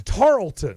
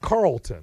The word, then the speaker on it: Tarleton: No, it's Tarleton. Sure. Right, it's not Carleton. If they beat Georgia Tech instead of Tarleton. It's not Charleston.